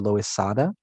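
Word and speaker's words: Loisaida: By the late 60s, they called the neighborhood the Loizada, right? So kind of reflecting the Spanish pronunciation of the neighborhood's name.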